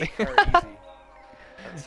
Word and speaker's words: Takeorisky: What about Takeorisky? How do you pronounce that? Takeorisky? Almost Take like her easy. take her easy. Yeah. That's how he likes to pronounce it.